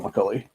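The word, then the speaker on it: McColley: I believe it's McCulli, but I could be wrong about that one. Yeah, it's Rob McCully.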